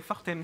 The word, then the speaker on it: Fortems: David Fortems, je ne sais pas si on dit le S. On dit le S, ouais, Fortems. Fortems. On prononce tous les lettres. On n'en laisse pas une de côté.